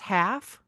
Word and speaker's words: Halff: So first up, Jessica Baker Daly is that pronounced Halff?